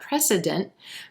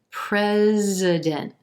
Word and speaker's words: president: in red vowel pres that s is gonna sound like a z so it's not precedent pres president that n t at the end of this word is gonna sound like president or you can do a very soft release t at the end of this word as well president president what